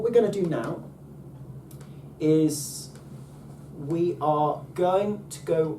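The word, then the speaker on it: αι: When alpha and iota come together, that's just I. I. Aye, Captain. Aye.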